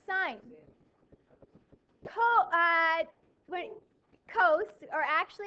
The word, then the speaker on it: sin: so it's not it's actually not from precise pronounced sin it's actually pronounced there no sign sign yeah pronounced sign cos or actually its full name is cosine